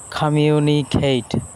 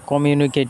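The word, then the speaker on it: communicate: খামিউনিকেট। এ উচ্চারণটা কমিউনিকেট না।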